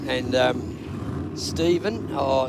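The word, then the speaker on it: Stephen: sportsman correct and um Steven oh s t e p h e n I thought always I thought that was Stefan. But anyway, Steven. That's how I spelled my name.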